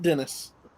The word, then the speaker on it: Diniz: Nope, Diniz. It's like Guinness, but with a D.